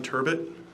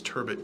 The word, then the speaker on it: Turbett: and have a seat state your name and spell it please turbot that's j-o-n last name is turbot t-u-r-b-e-t-t go ahead council so what area sir